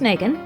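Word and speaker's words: Meighan: This stars Thomas Megan, Google tells me it's pronounced Megan, and Marie Prevost. more excellent cinematography and one of those great examples of hard-hitting precode gangster drama. Megan is the police officer who stands against the gangster bosses.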